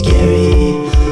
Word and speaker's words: Gary: He's Gary with the silent R. His name's pronounced that way.